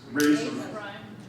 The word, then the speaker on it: RASM: be invited to uh to speak here at rasmu i was actually told that it's pronounced razor which is an interesting transition to what